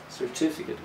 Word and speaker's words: certificate: Well, if you check the phonetic transcription in your dictionary, it will show that the second syllable is the strong one. certificate, but the stress can change depending on the form of the word.